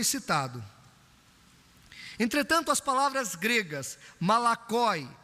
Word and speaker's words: malakoi: Malakoi, se você quiser marcar, é do jeito que se escreve e se fala, porque é uma transliteração.